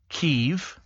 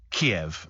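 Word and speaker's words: Kyiv: a television program Phil says don't don't we pronounce it chicken keev now I don't know actually sabes have become the first to rename ke to Kiev they've spelled it KY i v yeah which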